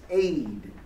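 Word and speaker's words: עד: the word witness, and that word is aid It's actually E-D. That's it. That's how you spell it, E-D. Aid.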